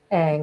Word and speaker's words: Ang: Ang, that's how you pronounce it, Ang.